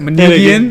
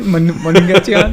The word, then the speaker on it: Manugian: We pronounce it Manugian. Manugian.